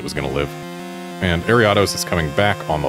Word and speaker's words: Ariados: It's Ariados. That is how it is pronounced. Ariados.